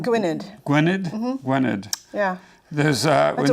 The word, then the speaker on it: Gwynedd: There's a young sister, and I'm not going to pronounce it, Gwen? Gwynedd.